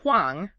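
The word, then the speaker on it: 黄: represents a powerful lineage we have pronounced hang which means yellow okay and we have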